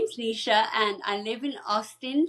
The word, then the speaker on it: Nisha: And am I pronouncing your name right? Nisha. Yes, Nisha.